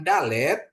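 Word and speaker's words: דלת: untuk G ya gajah sedangkan dalet seperti anda melapalkan desa untuk D atau Delta ya Bapak Ibu ya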